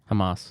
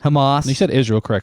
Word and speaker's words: Hamas: Hamas. Hamas.